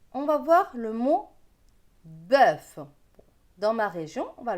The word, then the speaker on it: bœuf: Donc, bœuf. Vous voyez, le O-E-U se prononce E dans ma région. Pour d'autres, ce sera bœuf. Voilà, ça dépend des régions.